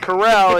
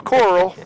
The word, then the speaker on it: Coral: think Jean I mean we know it's not Corral it's Coral but and looks like J's